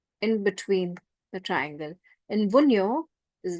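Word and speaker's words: Wunjo: which is called Vio J is silent in this Vio it looks like a flag Tas difference Tas is this way in between the triangle and vuno is like a flag vuno it means fulfillment Joy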